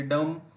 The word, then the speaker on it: dumb: किसी भी शब्द के अंत में यदि एम के पश्चात में बी पाया जा रहा है तो वहाँ पर बी का प्रोनाउंसिएशन नहीं करते हैं।